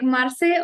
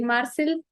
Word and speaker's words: Marseille: thank you in French they speak like Marseille or in English we speak like Marcel yeah so like I